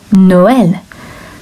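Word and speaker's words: Noël: it makes the word noel so the second vowel is separate to the first one so it gives you two syllables or two beats to that word noel makes the sound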